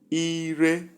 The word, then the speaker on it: ire: Number 1, we consider high, high. And the sound is ire, tongue, tongue.